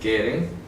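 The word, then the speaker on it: קֶרֶן: la profecía la palabra keren se escribe Así keren se pronuncia con q keren esta palabra empieza a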